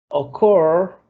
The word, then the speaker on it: occur: Occur. Decimos occur, de ocurrir. No decimos occur, ¿ok? No, decimos occur. Está al final.